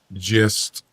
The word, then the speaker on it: gist: Gist is pronounced with a J.